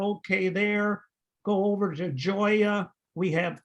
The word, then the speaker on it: Joya: And just something to note as you're calling to make appointments, it's Burgess with a hard G and Joya with a soft G. So Joya Burgess.